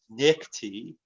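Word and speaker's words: NICTD: okay and the nice northern indiana commuter transportation district pronounced nickty a very flowery name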